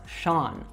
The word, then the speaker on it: Sean: All right, so as I said, this is an Irish name, and when we see Irish names, they are not pronounced anything like the way they are spelled.